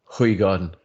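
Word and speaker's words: Hoegaarden: Hoygaard. Correct. That is the correct pronunciation.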